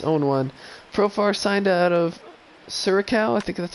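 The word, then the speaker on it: Curaçao: Profar signed out of Curacao.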